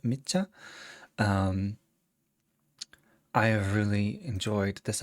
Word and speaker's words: Micha: This is Micha, I think is how we're pronouncing it, Micha.